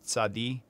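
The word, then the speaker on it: צדי: Kuf, Kaf, Tzadi. T-S, like cats in the roof.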